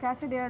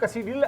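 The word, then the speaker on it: quesadilla: कसडील क्यों नहीं कैसिडला एल इसमें साइलेंट है बेसिकली फ्रेंच में अगर इसको कॉल आउट करेंगे अगर आप वैसे ही नॉर्मल कॉमन इंग्लिश में बोलेंगे तो कैसिडला ही पढ़ा जाएगा बट इन फ्रेंच इसको एल साइलेंट है तो फिर ये बर्गर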